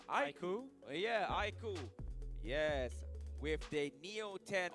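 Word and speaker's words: iQOO: is Makers, and also Vivo how do I pronounce? Aiku? Yeah, Aiku.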